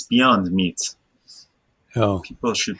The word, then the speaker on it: Beyond Meat: You know, I hope you understand that it's not beyond the meat. It's beyond meat.